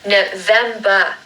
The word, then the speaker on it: November: And with November, we're going to make a schwa sound at the beginning and at the end. So it's n, vem, so the second syllable is stressed like the other two. November, November.